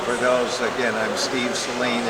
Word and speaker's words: Saleen: Yeah, for for those again I'm Steve Seline. It's S A L E N. You pronounce it as Seline like in gasoline.